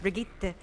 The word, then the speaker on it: Brigitte: actors be like oh it's pronounced if you know we're talking Swedish it's pronounced Brigitte and it's like thank